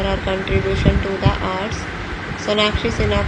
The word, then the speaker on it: Sonakshi Sinha: Sonakshi Sinha, pronounced Sonakshi Sinha, born 2 June 1987, is an Indian film actress and singer.